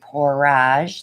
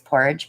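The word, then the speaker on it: Pourage: posse line and guys it is pronounced porrage like garage i love when everybody says porridge posse paints but they don't get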